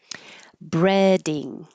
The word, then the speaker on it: breading: Breading. The vowel here is e as in head.